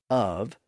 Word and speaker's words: of: lingers into Modern English notice that the word of is spelled o f and not OV that's the lingering influence